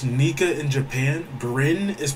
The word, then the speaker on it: Nika: a break because he read the spoilers bro pronounce nika in japan brin is pronounced nika in japan in japanese i have no clue